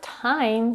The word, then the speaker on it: time: The word time starts with the aspirated t.